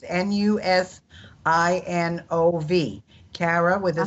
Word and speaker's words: Nusinov: We better give them how you spell it. It's Nusinov.